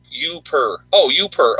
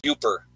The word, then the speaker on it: UPer: Oh, UPER. Okay. I was saying it wrong.